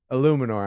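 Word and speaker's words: Eluemunor: Illuminor, is that how you pronounce it? Let's look up this one. Illuminor. I had that run right.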